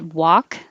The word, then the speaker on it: walk: to notice here is that walk as in walk sounds exactly the same as wok the bowl so i